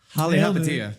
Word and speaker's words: Palihapitiya: Polyhopatiya. Chamath Palihapitiya.